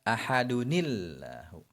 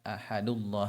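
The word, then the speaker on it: أَحَدٌ ٱللَّهُ: Maka nanti cara bacanya ahadunillahu. Ahadunillahu. Seperti itu, bukan ahadullah, bukan, tapi ahadunillahu.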